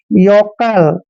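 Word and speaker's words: yokel: की मात्रा पढ़ते हैं और के ई का उच्चारण क करेंगे एल को ल पढ़ते हैं योकल दोस्तों योकल मींस होता है गवार जैसे रमेश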